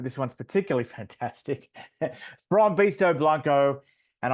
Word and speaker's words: Blanco: one's particularly fantastic beasto Blanco and I I'll be careful to say blanco not Blanco the way the Aussies say it he Chuck G Chuck